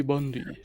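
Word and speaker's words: Bundi: Is your name really Bundy, or are you just saying that? Ah, I got it, Lumpy. Took me a minute. My name is really Bundy.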